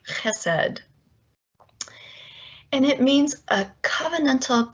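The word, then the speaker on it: חסד: in all of language i will slaughter the pronunciation because it has a guttural in it something like hesed and it means a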